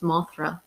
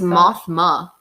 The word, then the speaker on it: Mothma: What is her name? I think it's Mothra. Mon Mothma? Mon Mothma. It's Mothma.